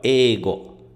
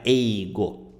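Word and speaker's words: 英語: e né E outra a pronúncia aqui ó ego tem um prolongamento ó Ego não é eigo tá ego porog significa língua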